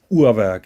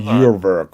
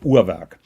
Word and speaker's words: Urwerk: By the way, it's pronounced Uhrwerk. It's not Uhrwerk or Uhrwerk. Yeah, bullshit. It's called Uhrwerk.